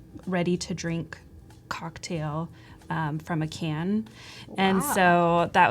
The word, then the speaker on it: Asay: name is pronounced yes we that are wondering hmm like the letters or think ACDC yeah yeah okay so